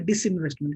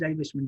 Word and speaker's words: divestment: It's not a disinvestment, it is divestment, DIVESTMENT strategy that aims to move investments away from coal companies.